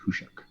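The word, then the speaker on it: Khusyuk: So they're going to have cards like RDI, and they're going to have cards like Hushuk, which is like KHU something, but it's pronounced Hushuk.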